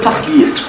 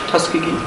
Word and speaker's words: Tuskegee: So, first of all, we'll go to the Tuskegee experiments. Did I pronounce that right? Tuskegee?